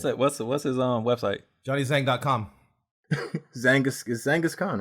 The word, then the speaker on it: Zhanghiskhan: Just think Zhang and Genghis Khan. Put the two together, and there you go.